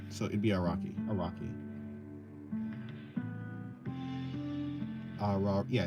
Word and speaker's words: Araki: I guess I'll just say Araki. Like Arrakis. Okay, not Arrakis. but Araki. Because I guess Japanese has like soft A's, right? So it'd be Araki.